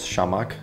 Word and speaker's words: Shamack: but people know me as shamak just to make it easy for for english speaking customers to pronounce i'm a tattoo artist